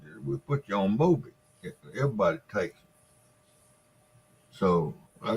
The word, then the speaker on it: Mobic: Mobic?